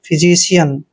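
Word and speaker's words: physician: यहां पर य बनाएंगे और एन को न फिजिशियन फिजिशियन का मतलब होता है चिकित्सक या फिर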